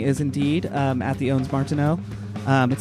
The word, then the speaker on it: Ondes Martenot: Martineau. Damn it. One day, I am hearing a little bit of Ondes Martenot. Ondes Martenot.